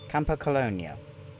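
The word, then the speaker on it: Campocologno: Okay, that's how you pronounce it. Camponio.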